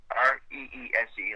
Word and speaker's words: Reese: Res like Reese's Peanut Butter Cup.